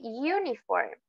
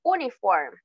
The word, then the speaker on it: uniform: otro ejemplo uniform a uniform no decimos uniform verdad uniform lo escribimos con una vocal pero el sonido cambia por completo uniform es igual a